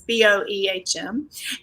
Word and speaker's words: Boehm: So I'm a children's author, Bane, and you can read more about me at my website, even though it's spelled like Boehm, but it's Boehm.